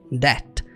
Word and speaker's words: debt: In That essa palavra você não pronuncia debt não você fala that that você vai ignorar o b that Ou seja você